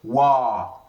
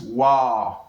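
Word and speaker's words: واو: After me the next one is what is called wow. So this is wow.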